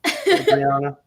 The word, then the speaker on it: Adriana: Adriana. Shimmy all over. Now that she told me that she pronounced her name Adriana, I love saying it even more.